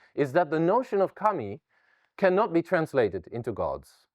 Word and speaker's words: kami: Asian religion might recognize the Chinese character for God or deity uh that in Japanese uh is uh pronounced Kami uh that's the same